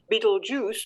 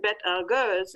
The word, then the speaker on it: Betelgeuse: For example, Ramanujan in India, or if you're teaching astronomy, you teach your students that you don't pronounce that star up there as Betelgeuse, but Bet Algurs, and talk about the